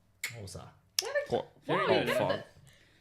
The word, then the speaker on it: Xhosa: you pronounce Xhosa, which is one of those, is Xhosa because it's XH or SA, so it's Xhosa. Xhosa.